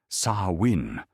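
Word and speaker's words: Samhain: They called this time samhane, pronouncing it saw winin with the soft cadence of Gaelic tongues, and they understood it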